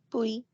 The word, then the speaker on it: puis: Puis. Puis. The S is silent and you say then.